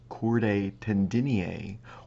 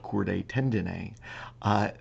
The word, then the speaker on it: chordae tendineae: rope-like structures known as chordae tendini also it's pronounced and spelled chordae tendineae these exist only on